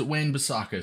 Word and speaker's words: Wan-Bissaka: like 10 minute video according to Handy old Google it is Wayne besaka so I did get